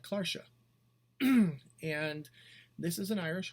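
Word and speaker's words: cláirseach: In the clairshah, I say clairshah, it's pronounced differently in lots of different dialects, except my family comes from Ulster, so I'm used to hearing it called clairshah.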